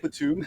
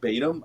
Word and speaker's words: Batum: and they were like did you just pronounce it btim I was like oh oh sorry sir I forgot to pronounce it with the first song yeah it's it's yeah